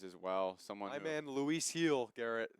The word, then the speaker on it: Gil: well someone man Luis heel Garrett pronounce it no no G they say the G is like an H Luis heel has been